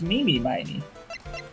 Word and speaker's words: Mimi Miney: name is eenie meini and her sister is mimi miney you know what the kicker is taste has